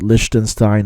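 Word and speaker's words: Liechtenstein: getting 1 nil against Likenstein. Um, you know, some people pronounce it Lichenstein or Lichenstein, but um I say Likenstein. Um, it might be a little bit dated. I I'm not really sure, but uh yeah, they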